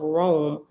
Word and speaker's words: Roam: established the mountains of rome r-o-a-m like rome we're gonna roam on down the street roam from country to country that's what's called rome and it's spelled like that so brahma did as